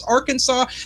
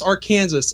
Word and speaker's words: Arkansas: So, it's spelled the same way. It's technically the same river, but on one side of the border it's Arkansas, the other side it's R Kansas.